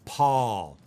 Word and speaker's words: Paul: Most Brits will say Paul, Paul. Now, for us, we would say Paul. Once again, it's that ah sound. P-ah, Paul.